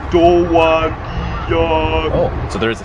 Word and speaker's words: Dowagiac: Obviously pronounced Dowagiac.